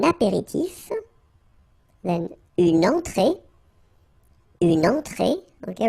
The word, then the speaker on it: entrée: Une entrée. Okay, remember, well, technically this final here is not pronounced, so phonetically it doesn't exist, so it's et. Okay, entrée. Remember, nasal here, en, entrée. Une entrée.